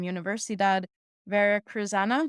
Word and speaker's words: Universidad Veracruzana: She graduated with a veterinary medicine degree from Universidad Veracruzana. Did I pronounce that right?